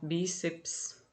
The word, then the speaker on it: bíceps: Bíceps, tá? Aqui é paroxítona, tá? Ó, essa letra aqui, essa sílaba aqui é uma, e seps é outra sílaba, não são duas sílabas aqui, tá? Aqui é apenas uma sílaba. Só divide essa palavra aqui nesse lugar, não divide aqui.